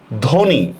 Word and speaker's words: ধ্বনি: ধয়কার ধ নমস্কার নি, ধ্বনি।